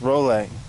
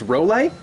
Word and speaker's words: Rolle: And I think, yeah, Miki, you're Miki Rolle, but it's pronounced Rolle. His name's Miki Rolle. It's not Roule, it's Rolle.